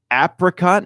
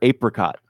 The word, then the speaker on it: apricot: yeah aren't you smart apricot or apricot um that one is kind of like your pecan and pecan where I could go either way like one just doesn't